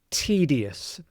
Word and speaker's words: tedious: The e here sounds like the doubly e sound. Tests. And there's a weird pattern of vowels here. I u is pronounced us. Tds. So td us. So really the U isn't isn't pronounced at all.